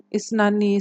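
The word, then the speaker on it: اثنا: khusus untuk bilangan 12 kalau dua itu isnani tapi kalau untuk 12 ninya dihilangkan jadi Isna Oke Isna kemudian apa nih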